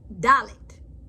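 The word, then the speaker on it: דלת: Dalet is sound like a D as in door.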